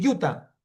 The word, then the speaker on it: Utah: Unidos que se llama se escribe U T H, pero se dice Utah.